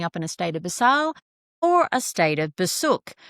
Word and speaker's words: Beusail: were either showing up in a state of basal or a state of basuk. Ironically, basal is spelled b you u and sail and the opposite which is basuk is spelled be you and suck. But what basile means is ethical moral of good intent whilst